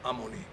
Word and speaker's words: Amunt: ricordo esattamente il termine, e si scriveva Amunt, ma si pronunziava Amunì.